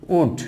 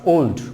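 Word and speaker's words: would: দেন হচ্ছে উড নট ওল্ড, উড, ওল্ড।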